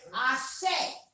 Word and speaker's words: Ashe: it meant, is that you'll hear people say Ashe. Yeah. Ashe. Ashe. Ashe is one of the most powerful words in Swahili. Okay, what is? It's like almost saying amen. Ashe.